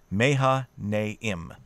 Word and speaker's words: Mahanaim: Remember, if you're looking at a name, you're safest if you pronounce all the vowels. Mahanaim.